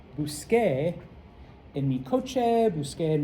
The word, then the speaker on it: busqué: If you recall, the pronunciation of the letter C in Spanish is just like English. And anytime you have a C before an E or an I, it's S.